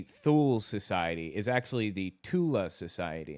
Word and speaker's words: Thule: Or the Thule Society is actually the Tula Society, not the Thule Society. Because, again, they don't have the TH sound.